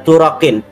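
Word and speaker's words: طرق: Bahwa an-nasab yasbutu bi arba'ati turuqin, itu dari situ. Kalau orang Banten bacanya turakin.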